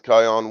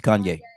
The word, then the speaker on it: Kanye: an example mm-hmm you know all the things Kion West did my my mispronouncing his name wrong yes Kanye Kanye okay I heard your wife in the